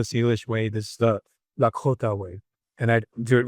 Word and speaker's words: Lakota: way, this is the Lakota way. And I do it with the the real pronunciation supposed to be the K with the K H after that. So, Lakota. I sort of just find